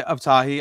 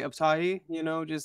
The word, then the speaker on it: Abtahi: People try, people say Abtahi, I say Abtahi, I Americanized the last name, a lot of us do, but mm-hmm.